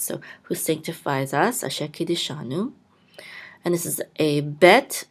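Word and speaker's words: קִדְּשָׁנוּ: which says ki, and a daled with a shava. We're going to sound the shava, so we're going to say ki de, and this is a shin with a kamatz, which will say sha, ki de sha, and this is a noon with a vav and the dot through it. We'll say u, ki de shanu, and Kiddushanu means who sanctifies us.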